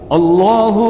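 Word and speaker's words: الله: بہت کھینچ دیتے ہیں، بعض کیا کرتے ہیں الہ میں جو ہا ہے بعد میں اس ہا کے بعد الف لگا دیتے ہیں، اس کو کھینچ دیتے ہیں، وہ غلط ہے۔ صحیح تلفظ یہ ہے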